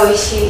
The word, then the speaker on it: ঐশী: কিন্তু অনেকে ও লেখে, মানে বিকজ ইটস আ নাউন, তো যে যেভাবে লিখে, কিন্তু আমি যেহেতু স্পেলিংটা AI লিখি, তো ওটাই লিখে আসছি, ওটাই আছে, কিন্তু আমার প্রোনাউন্সিয়েশনটা যেটা ঐশী।